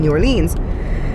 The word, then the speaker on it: New Orleans: I don't know why they call it Lins when it has E-A-N in it, like bean. It doesn't make sense. Americans say New Orleans. I said New Orleans. No, you don't. You just said that right now. Just New like Orleans. That.